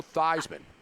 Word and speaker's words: Theismann: Hey, Joe Theismann, which rhymes with Heisman, joins us right now on Sirius XM 211.